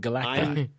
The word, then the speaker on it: Galacti: Galactic. the the the the linguist in me is screaming plural that it's galacti because it's not galactises, right? It's galacti.